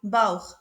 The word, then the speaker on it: Bauch: Après le son A, on le prononce Kha, Bauch, belly.